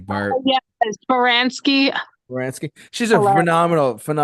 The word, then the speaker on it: Baranski: Baranski.